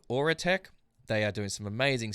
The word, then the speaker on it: Aurateque: AURATEQUE, guys, how you doing? Am I saying that name right? Is that the correct pronunciation?